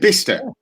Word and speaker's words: Bicester: um that before easter so what is it bista yeah called to this blister there you go huh tesla's bold sister